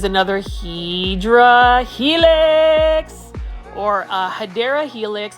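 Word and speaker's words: Hedera helix: HRA helix or a hadera helix I just like calling hedra Helix but the correct way to say it is hadera Helix which is basically an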